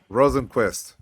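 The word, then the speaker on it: Rosenqvist: Rosenquist.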